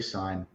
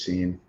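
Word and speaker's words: Cine: I always say his last name wrong too. I say Sign. That's It might be incorrect. Sign. I think it's Scene.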